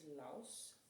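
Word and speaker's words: Los: So, her leave it command is laus o or l o s. Um and it's pronounced like it has a w in it.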